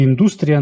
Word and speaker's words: індустрія: адже в країні дуже розвинена індУстрія туризму наголос у слові індУстрія на “у” Отож, сьогодні ми досліджуємо Італію — розглянемо економіко-географічну характеристику цієї середземноморської країни Спочатку коротка характеристика Італія — південноєвропейська країна.